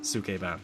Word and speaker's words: Sukeban: Okay, because it's like a Japanese word, and I'm trying to pronounce it right. Right. Sukeban.